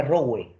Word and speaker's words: Rowe: John Rowe. John, R-O-W-E, R-O-W-E, John Rowe. Se escribe, bueno, en todo caso sería Rowe, ¿no? R-O-W-E, Rowe. Ya, pero se lee John Rowe.